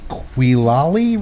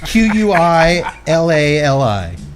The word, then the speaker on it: Quilali: the Havana 92 black varietal binder from the Quilali region of Nicaragua. All right, how you say it, asshole? Q-U-I-L-A-L-I.